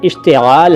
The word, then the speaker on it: इस्तेमाल: feature मुस्तक़बिल इसके बाद इस तेल इस्तेमाल का सही उच्चारण इस्तेमाल है इससे सवाल लेकिन इस